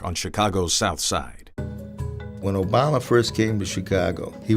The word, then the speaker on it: Obama: baby politically he said people don't know how to pronounce my name they say alabama some say yo mama but the name is obama we were at saint